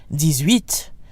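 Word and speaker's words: dix-huit: and 17 de set the X sounds like a Z and 18 because it's followed by a vowel sound DS reat but the pronunciation of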